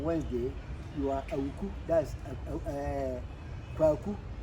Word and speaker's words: Kwaku: That's Kwaku. Kwaku is Kwa Awuku, which have been, pronounced very fast. So it's Kwaku.